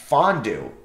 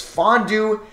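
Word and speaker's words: Mfiondu: It's, it's actually pronounced Fondu. The M's silent. Oh, well, glad I looked this up. So it's Fondu, Cabangeli.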